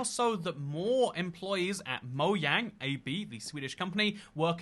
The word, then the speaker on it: Mojang: fully american company but a lot of people do pronounce it the american the english-speaking way which is mojang more so than pronounce it mo yang and the question should